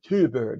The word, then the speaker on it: Thyberg: Take a look at Tobias Thyberg, or Thyberg as they pronounce it, formerly, among other things, ambassador to Afghanistan.